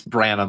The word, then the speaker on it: Branham: Isn't it Barnum? It's Branham, I believe.